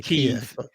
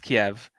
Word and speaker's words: Kyiv: I mean, I say Kyiv. Yeah, the correct way to say it is Kiev. But again, this is part of the language war, and I guess we'll talk about that later.